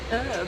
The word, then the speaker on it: herb: that's that one yeah what's the deal with dropping the H on the on the herb her we pronounce the h you pronounce it as it's written yeah yeah um I